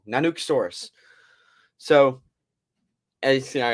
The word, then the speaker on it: Nanuqsaurus: the Alaska's Tyrannosaurus Rex nanosaurus I think I'm pronouncing that right nanuk saurus I am pronouncing it wrong nanuk sorus so as you see